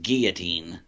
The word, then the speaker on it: guillotine: or geee I mean it's guillotine or it should be pronounced guillotine which would make a shortened version GE but that sounds stupid because white people say gully because some people say go Latinos well guillotine which would be Gilly instead of gullies so